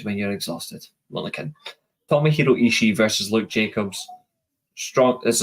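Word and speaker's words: Tomohiro Ishii: Talent so you've got the storm pit bull Toma hero ishi sorry my apologies long day at work long day at work and pronouncing names is never good when you're exhausted well again tomihiro ishi versus Luke Jacobs strong this is a strong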